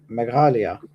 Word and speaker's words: Meghalaya: How do you pronounce it? Which one? Megha- Meghalaya. Meghalaya.